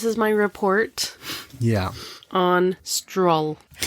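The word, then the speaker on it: Strul: On stroll. Stroll. I like that pronunciation. Stroll. Stroll. Like what? Like he's strolling around.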